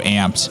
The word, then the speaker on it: Ampd: on your Google campaigns and that's spelled amp D so no not not not you know the traditional way but ampd if you want to